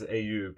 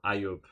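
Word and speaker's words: Ayub: No, not my uh my actual name is Aub or Aub. A y u b.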